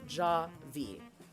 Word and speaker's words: Javy: Javy is pronounced Javy.